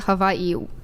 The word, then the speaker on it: Hawaii: People in Hawaii, you're supposed to pronounce it Hawaii. That is true. Yeah. Didn't a comedian make a joke about the this W recently? in the Hawaiian language is a V, kind of.